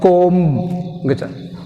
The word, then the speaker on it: comb: Silent letter is B. Climb. Limb. Comb.